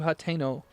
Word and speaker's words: Hateno: Alright, take me to Hateno. It's definitely the correct way to say that.